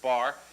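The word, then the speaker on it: barre: of the bar okay the bar which is spelled kind of funny like that but it's pronounced just bar and the bar should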